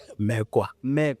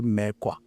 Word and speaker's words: Mekoa: Mekoa. Yeah, that's how it's pronounced.